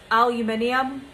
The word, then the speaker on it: aluminium: great trick is to get the aluminium or aluminum depends how you say it um get a